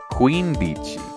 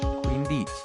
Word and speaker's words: quindici: Quindici. Oh, it's not Quindici. Really? That's how you spell... That's how you pronounce Q's in Italian, huh?